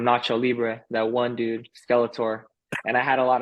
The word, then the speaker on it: Skeletor: you is how do you get the nickname Skeletor is that how you pronounce it yeah yeah that's how you pronounce